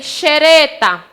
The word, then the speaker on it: xereta: Quando eu digo também xereta, é o caso também do X com som de CH.